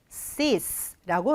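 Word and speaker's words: cease: 자,이 단어는 sis라고 발음이 될 겁니다.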